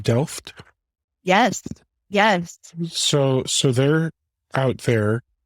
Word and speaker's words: Delft: Well, now, IKEA's headquarters is it pronounced Delft?